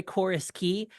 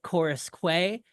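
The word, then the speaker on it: Queens Quay: year and you know you want to call like we were we were over by chorus key and you always want to call it chorus Quay uh badina Spadina you know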